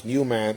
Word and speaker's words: UMAN: And we pronounce UMAN like Y-O-U, UMAN, because in order for things to work, we need UMAN.